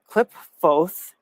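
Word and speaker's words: Qliphoth: And Klipfoth, that's, I'm pretty sure how you say it, because you say like thoth, you say thoth, and ph, right, is a f in it.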